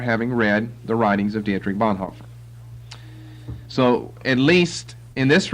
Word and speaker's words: Dietrich Bonhoeffer: Bonhoeffer, and that's Dietrich Bonhoeffer is the best way to pronounce his name for English people, and it's not that